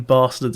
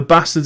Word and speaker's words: Basterds: quentin tarantino spelling but he has said that the e in bastards is kind of how it's said in the film so he hasn't explained